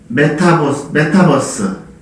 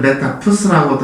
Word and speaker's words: 메타버스: 국민의당 대표에 출마를 해서 1위를 달리는 이준석의 열풍을 보면서 무엇을 생각하게 되냐면 요즘 태풍이 부는 것처럼 다가오는 메타버스 발음이 어떤 사람들은 메타푸스라고도 하지만 정식 명칭은 메타버스입니다.